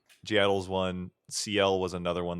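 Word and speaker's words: (G)I-DLE: So I think it's G Idol. I think that's how you say it. It's like G I and an apostrophe DLE. G Idol's one.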